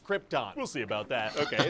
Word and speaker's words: Krypton: It's pronounced Krypton.